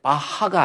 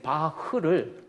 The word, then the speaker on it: Bach: 그래서 BACH 영어로 했을 때 그때는 바하가 아닙니다. 일본 사람들이 흐 발음을 못해. 그래가지고 일본 애들이 바흐를 독일 사람들 바하라고 그러면 몰라요.